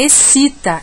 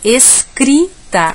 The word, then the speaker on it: escrita: poder chegar no ar palavra escrita não é excita é escrita o é o c